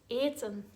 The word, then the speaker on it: eten: Be aware that eten is conjugated a bit differently because of the long e sound at the beginning.